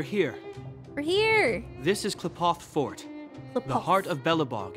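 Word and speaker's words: Qlipoth: Oh, it's pronounced Klipoth.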